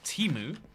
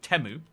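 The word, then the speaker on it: Temu: Uh it used to be called Teimu. Now they've started calling it Teu.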